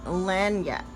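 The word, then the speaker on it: lagniappe: So I always have to go to the book to see how this is pronounced. So you got lanyap.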